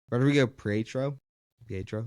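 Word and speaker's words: Rodrigo Prieto: But Rodrigo Pietro, that's how you say it, this cinematographer.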